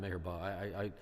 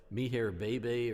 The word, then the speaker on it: Meher Baba: I didn't pronounce it Meher Baba. I was trying to, I thought it said something like Meher Bebe or something like that.